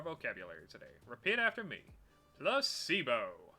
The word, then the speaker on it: placebo: today repeat after me placebo the stress is on the middle syllable splendid so charming how